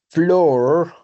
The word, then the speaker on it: floor: Las únicas excepciones, de pronto hay otra más, es el piso y la puerta.